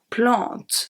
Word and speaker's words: plante: Here in the first segment of the sentence, the only silent letters are plante. Plante, the last letter that I pronounce is the T. E and S are silent.